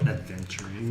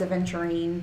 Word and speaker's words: aventurine: I always call it adventurine. I know. I always spell it wrong when I'm typing. Like, I know it's aventurine, but my fingers want to say adventurine. It is aventurine with no D, just so we're very clear.